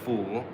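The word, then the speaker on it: فول: So, the dish is called foul, pronounced fool.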